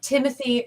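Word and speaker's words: Timothée: enough what is it timothy charlemay it's not timothy he said it is it can be timothy but they he pronounces it timothy i had to look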